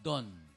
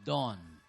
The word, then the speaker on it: dawn: kagaya nung don nagiging don should be dawn ah yung good nagiging good.